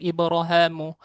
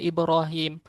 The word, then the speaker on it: إبراهيم: Ibnu Zakwan dan Isyam membacanya dengan Ibrahamu, sementara Al-Bakun membacanya Ibrahim sebagaimana umumnya dibaca.